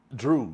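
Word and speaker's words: Dreaux: How you spell it? D-R-E-A-U-X. Oh, okay. Drew. Like Yeah, the like the New Louisiana Orleans. folk. Yeah, okay. Louisiana way to spell stuff.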